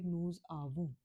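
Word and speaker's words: nous avons: क्योंकि जब भी कोई वर्ड फ्रेंच में कॉन्सोनेंट से एंड होता है और वोवल से स्टार्ट होता है तो हम क्या करते हैं कि लास्ट वर्ड को और फर्स्ट वोवल को हम साथ में प्रोनाउंस कर देते हैं, which is the rule which is called लियाजो.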